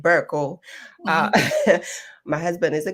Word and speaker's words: Berko: Um I think the Ghanaian pronounce it Burl.